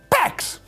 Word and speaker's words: Pécs: György, Gyula, Csaba, and Pécs. They don't recognize the Hungarian letters, and they don't know how to pronounce Hungarian words.